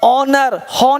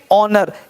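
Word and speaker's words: honour: एयर एयर मतलब उत्तराधिकारी ओनर नहीं बोलेंगे आज वो सब हो लोग बोल देते हैं क्या बोलेंगे ऑनर इज्जत सम्मान और बोलते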